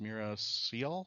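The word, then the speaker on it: Meera Syal: was played by mea I think it's pronounced Mira Seal s so I forgive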